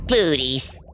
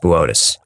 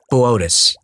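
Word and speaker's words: Boötes: Booties. Botus. And it says Booties on the teleprompter. It's pronounced Botus. Whatever. The Black Knight satellite is supposed to be from Booties. Botus.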